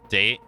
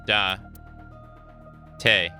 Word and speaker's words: Date: listening to the dialogue no it's dante because it's in in like english there would be an in here but in japanese it's da tay make sense e like e doesn't have an e sound in japan in japanese nor does a have an a sound or like what you